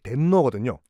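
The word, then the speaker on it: 天皇: 그래서 그들이 부르는 천황의 일본식 발음이 덴노거든요.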